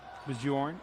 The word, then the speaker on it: Bjorn: It's not the foreign pronunciation of Bjorn for number 4, Addison Bjorn. So if anybody was kind of unclear on that, Bjorn is the pronunciation.